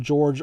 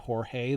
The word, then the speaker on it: Jorge: Johnny walkenfuss Jorge orta I think back in the day they just called him George orta um but today we would pronounce that Jorge that's in really great